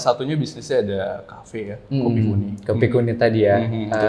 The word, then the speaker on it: Kopi Ku Ni: Sebenarnya itu lebih ke pelafalan orang Medan kali ya, kayak kopi kuni, ini kopiku sebenarnya.